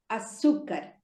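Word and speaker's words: açúcar: you c a r a sukar it's not sugar it is but we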